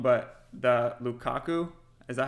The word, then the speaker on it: Lukaku: know how it's can you say that again lukaku okay i just want to make sure i